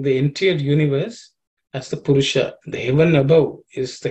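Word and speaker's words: पुरुष: Veda metum purusha mahantam the sha here is a cerebral sha. So the tip of the tongue has to point upwards.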